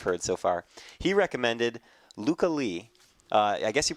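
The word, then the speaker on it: Lykke: so far he recommended Luca Lee uh I guess you pronounced this the first name of this girl well the it's spelled l-y-k-k-e he said it's said Luca so I don't know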